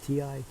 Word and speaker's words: Ti: I keep on saying Ti or T, but it's Ti. T-I, Ti.